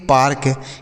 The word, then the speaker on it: PARK: इसे ऐसा नहीं पढ़ना है कि पढ़ देंगे पेड़ के, पेड़ के, जैसे हमने यहाँ पे केक पढ़ा तो इसको पेड़ का पढ़ देंगे, गलत उच्चारण है, इसे आपको पार्क पढ़ना है।